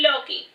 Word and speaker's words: Loki: I am Loki, pronounced Loki.